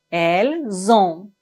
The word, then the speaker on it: elles ont: Ici, on doit faire la liaison entre le S et la première lettre du verbe qui est une voyelle. Nous avons, vous avez, ils ont, elles ont. Finalement, ne prononcez pas le N complètement. Nous avons, ils ont, elles ont. On ne doit pas dire nous avons, ils ont, elles ont. Non.